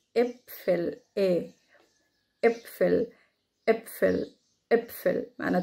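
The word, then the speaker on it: Äpfel: ايه ايه بصوا كده بتنزلوا بقكم كده وانتوا بتنطقوا ايه ايه، دي كلمة ابفل.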